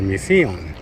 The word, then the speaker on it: misión: Misión, as you can see, is in Spanish with one S, and that accent, misión, instead of misión or misión, it's misión.